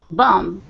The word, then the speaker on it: bomb: english for example exclusive exclusive and exclusive um bomb bomb exclusive um after the add ing sometimes people pronounce bombing or other parents bombing which you